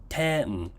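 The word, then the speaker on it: 天: You see the accent here goes high to low. Ten.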